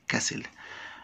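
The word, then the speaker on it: castle: بسرعه كسل يعني قل هنا تي لا تنطق كسل مبنى كبير جدات اتبنى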